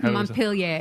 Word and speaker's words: Montpelier: Is it Montpelier or Montpelier? Montpelier.